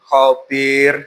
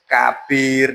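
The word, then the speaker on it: خبير: Halimun khabir. Harusnya seperti itu. Tapi tadi ada anak yang menyebutkan membacanya itu alimun kabir. Nah, itu jadi kalau seperti ini bukan ka tapi khabir ya gitu.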